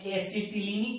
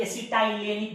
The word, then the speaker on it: एसिटिलीनिक: उसको हम लोग कहेंगे एसिटिलीनिक कार्बन। कुछ लोग इसका उच्चारण एसिटाइलेनिक भी कहते हैं। आप एसिटिलीनिक कहो या एसिटाइलेनिक कहो, मुझे कोई एतराज नहीं है।